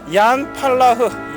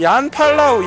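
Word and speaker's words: Jan Palach: 자 위령패가 있습니다 이름이 양팔라흐 얀차이 여기는 유럽에서는요 제이 발음이의 발음이납니다 이응 발음입니다 그래서 제 이름도 제이유엔 얘네들은 이렇게 부릅니다 자 양팔라우 얀 차이이 두 청년은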